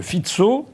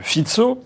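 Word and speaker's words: Fico: Premier ministre slovaque monsieur fitzo ça s'écrit F co mais en slovaque il paraît qu'il faut dire fitzo Robert fitzo qui a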